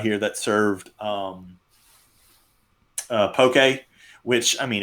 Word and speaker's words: poke: a lot of kudos he pronounces it right it's poke yeah he's pokey because some people right no so really like pokemon right yeah yeah what's like